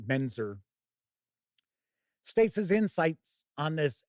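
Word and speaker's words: Mentzer: think Frank meant mener why do I always mess up that name actually think it's it's just pronounced Frank menzer States his insights on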